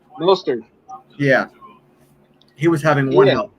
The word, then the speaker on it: Mostert: Mozart. How do you say his name? Mostert.